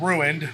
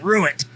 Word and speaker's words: Ruint: Instead of saying ruined, like something is ruined, he just puts it all into one word and says ruined. So it's ruined. It's almost just one syllable, too.